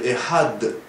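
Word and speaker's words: אחד: Et il faut dire Echad, avec le Dalet. Mais pas trop, il y en a qui appuient trop, c'est Echad. Ou Echad 2, des fois on entend Echad 2. Non, Echad c'est 1, c'est pas 2.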